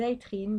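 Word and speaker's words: Aethrynes: d'une prêtresse qu'on appelle des itrines donc ça s'écrit a e t h r y NES et donc les itrines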